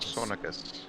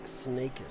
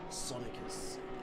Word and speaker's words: Sonicus: last name sonic sonicus i was saying sneakers so i'm glad you corrected me sonicus and yeah i i